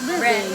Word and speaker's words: Breve: We are here at, I don't know if how you pronounce it. Yes. This one. Verva? Ay, may ano sa taas, so it's Breve.